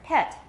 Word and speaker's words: pet: Now this time don't open it so wide and make the vowel shorter. Pet.